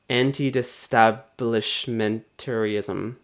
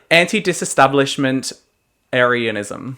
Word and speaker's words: anti-disestablishmentarianism: How do you say it? It's not getting better. It's anti-disestablishmentarianism.